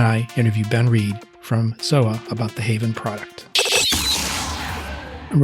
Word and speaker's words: TZOA: are ben reed from zoa haven or haven by zoa the company is zoa spelt t-z-o-a but the t is silent and the product line